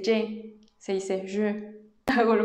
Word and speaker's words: je: No se dice je, se dice je.